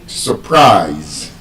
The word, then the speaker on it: surprise: Because there's a schwa sound in the first syllable, the s u r, the u has a schwa sound. So, it's not so. It is surprise.